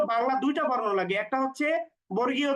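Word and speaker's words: حا: টেনে উচ্চারণ করব জিম এরপরে যদি হা বলি আমরা তো হা লিখতে শুধুমাত্র বাংলা হ বর্ণটা আমরা ব্যবহার করি সুতরাং হা উচ্চারণ করার সময় আমরা অতিরিক্ত টান দিব না হা একালিফ পরিমাণ টান এরপরে খ বর্ণ লিখতেও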